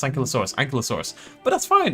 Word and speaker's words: Ankylosaurus: See, I disagree that Ankylo rhymes with Kylo. I think it's Kilo. Kilo. How do I pronounce Ankylosaurus?